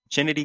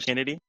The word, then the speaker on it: Chennedy: Kennedy I think it's I think it's Kennedy it's just it's a unique well they say it's I mean literally it's spelled chennedy it's ch huh yeah I it's it's I'm pretty sure it's still Kennedy it's a it's not